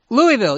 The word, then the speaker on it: Louisville: Is that how you pronounce it? Louisville? Louisville, yeah.